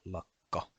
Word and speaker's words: lakka: S is tassu, and the double K is a long K sound as well, as in lakka, and the double V doesn't actually exist in the language.